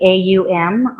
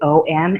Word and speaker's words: Om: do one ohm and it's actually a um although we tend to pronounce it om as in home so AUM is like